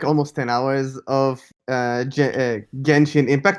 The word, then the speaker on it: Genshin Impact: i have like almost 10 hours of uh genji impact not not to be confused with junction impact which is the wrong way to pronounce the game as we learned in our